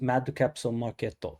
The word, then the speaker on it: Mad Capsule Markets: And to me, that sounded a lot like a band called Mad Capsule Markets, pronounced Mad Capsule Marketo in Japanese.